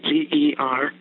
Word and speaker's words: Gerald: His name is spelled G-E-R-A-L-D.